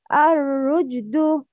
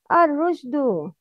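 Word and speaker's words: الرشد: The first one, Arushdu. The second one, Arujdu. Which one is right? Arushdu. The first one.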